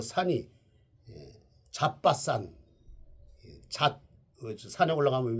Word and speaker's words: 잣밭산: 그 산이 잣밭산, 산에 올라가면 왜 우리가 잣을 따먹는다 그러잖아요. 근데 어떤 일에 들으면 잣발산이라고 또 이렇게 또 할지 모르니까 잣밭산. 예, 발음 잘못하면 잣발산이죠. 잣발산.